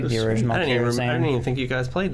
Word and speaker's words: Karazhan: Karazhan? Karazhan. Oh, the same thing, dude. I said it right.